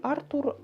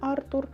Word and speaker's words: Артур: між життям і смертю Артур чи Артур насправді не знаю але мені здається що все-таки Артур адже це французький письменник тому я більше схиляюсь до того що наголос буде на у Артур тож молодий архітектор Артур